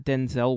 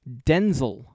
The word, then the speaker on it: Denzel: His name is not Denzel Washington. It's Denzel Washington.